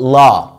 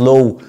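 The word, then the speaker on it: law: كليه الحقوق او الحقوق، الكليه بتاعت المحاماه بالانجلش اسمها فاكولتي اوف لا، خليك محامي برنس في نفسك مش لو، لو دي يعني كليه الوطين ما تنطقهاش لو خالص.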